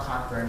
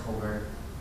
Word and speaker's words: Cockburn: It's not Cockburn, it's Coburn. I haven't figured that one out yet either. According to everything I've listened to, they pronounce his name as Coburn. I would have said it was Cockburn, but whatever.